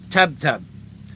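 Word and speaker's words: tebteb: said how do you say butcher in visaya tab tab spell it t-e-b-t-e-b okay now I know tab tab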